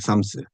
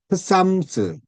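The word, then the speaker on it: Psalms: 삼스. 근데 어, 바이든 대통령이 자기가 성경을 많이 읽는다면서 샴스, 피가 발음이 안 되는데 쌈스인데 흑삼스 뭐 이렇게 말을 한 거 보니까 흑삼이 아니고 삼스입니다.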